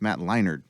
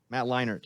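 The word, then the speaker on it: Matt Leinart: leinard Matt leinert right there's no D in his name yeah but it's pronounced Matt Leonard say his name Matt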